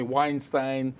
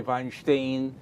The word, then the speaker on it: Weinstein: He was actually born Garik Weinstein, that's how they pronounce it in Russian. We would say Weinstein, the Russians say Weinstein.